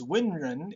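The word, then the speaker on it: 文人: The scholar class, known as literati, otherwise pronounced Wenren in the Chinese tradition, had an examination system to recruit government officials that would have been instituted in the Tang dynasty.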